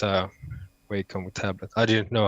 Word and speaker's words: Wacom: No, it's a Wacom tablet. I didn't know how to pronounce the Ah, Wacom. I say Wacom in I Swedish. might be pronouncing it wrong too.